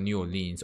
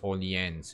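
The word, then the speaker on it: Orléans: Not New Orleans, Orleans, you know. It's gonna be a little bit French in my pronunciation there, unless I get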